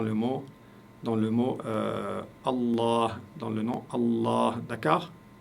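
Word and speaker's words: الله: donc cela signifie que vous devez prononcer le LaM la lettre L ici vous devez la prononcer longuement comme si vous comme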